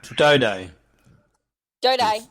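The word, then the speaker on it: Doedee: Tom Doody, I still don't know how to say that. Dode. Rhymes with 2 day.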